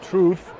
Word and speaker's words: Trvth: out it's the uh it's kind of hard to pronounce it's true the truth i would want to say truth but instead of you it's a v so i don't know